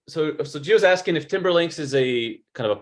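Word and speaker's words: Timberlinx: name of a particular kind of connector and it's spelled t-i-m-b-e-r-l-i-n-x timberlinks and you can look that up online and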